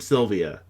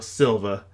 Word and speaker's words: Silva: an elven princess named Sylvia, or Silva. Apparently there's not an I in it. I always pronounced it with an I. I always thought I saw an I.